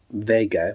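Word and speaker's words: WEGA: the year 2000 recently found out that it's pronounced Vega with the V and not Wego with the w uh anyway on that TV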